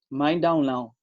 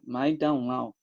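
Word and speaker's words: 麦当劳: a gente, né, McDonald's, para eles é algo que soa mais ou menos assim: Mai Dao Lao. Claro que eu não sei falar chinês e talvez eu esteja, né, com uma pronúncia muito ruim, mas é algo semelhante a isso, né? Mai Dao Lao.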